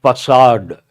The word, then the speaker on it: facade: Facade. The spelling and the pronunciation, they have nothing to do with each other.